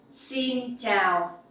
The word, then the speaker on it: xin chào: The X sound you will pronounce like S in English. Like the S sound in English. Okay, it's like in speaks. So xin, and the sound ch in chào you can pronounce like in champion.